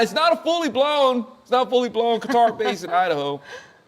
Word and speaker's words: Qatar: And when I say Qatar, I feel like saying guitar. It's a guitar base. Wow. There's actually a lot of people who pronounce it guitar and gutter.